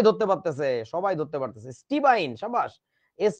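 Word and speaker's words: stibine: এরকম মানে বানানটা এরকম স্টিবাইন অথবা এটাকে কি বলা উচিত ছিল বলতো এটাকে বলা যেত স্টিবিন স্টিবাইন বা স্টিবিন কিন্তু আমাদের দেশে যে কাজটা করে এটাকে বলে শুধু স্টিবাইন বুঝেছো আচ্ছা তারপরে আসো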